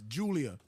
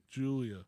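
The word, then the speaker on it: Giulia: oh okay so it's Julia Julia the g is silent right and number one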